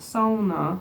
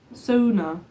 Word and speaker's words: sauna: Finish sauna is pronounced SAA with the first syllable rhyming with a word for a female pig so Sona how do finlanders